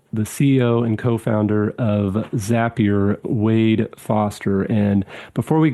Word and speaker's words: Zapier: The the age-old question, thanks for having me, Jeremy, but it is Zapier.